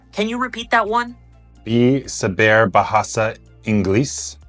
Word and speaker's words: bisa berbahasa Inggris: Now let's move on to bisa berbahasa Inggris, which means do you speak English? Can you repeat that one? Bisa berbahasa Inggris.